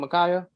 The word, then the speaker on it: Ma'Khia: sharp and killing george floyd in ohio um makaya is that how you say her name makaya yes sir rakay bryant was killed in an